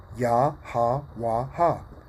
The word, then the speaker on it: Yahawah: from right to left yaha waha the real name of the father yahawah that's how you correctly pronounce it right it says in